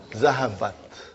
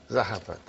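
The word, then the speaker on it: ذهبت: Okay, and then I'm putting here open ta with a sukun. How do you pronounce it? Zahabat. Zahabat.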